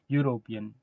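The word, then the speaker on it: European: लेकिन जब यूरोपियन आप बोलिएगा तो आपका आप जो उच्चारण कीजिएगा उससे जो आवाज निकलेगी वो वाई से कहीं ना कहीं होगी। यूरोपियन यूरोपियन है ना?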